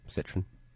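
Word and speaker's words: Citroën: he I know he did the like the Citron commercial where the car turns into a transport. Sorry. How do you pronounce that? Citron. Catron. Okay. How do you pronounce it? Citroen.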